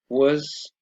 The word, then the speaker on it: was: notice the pronunciation here the was or the were takes a weak form so it's pronounced was were i was playing you